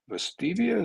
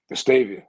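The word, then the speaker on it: Vestavia: We have a freshman uh from Bastavia. Is that how you say it? I always say that wrong. Down by Birmingham. Is it Bastavia Hills or Heights? Something like that. Vastavia. Vastavia.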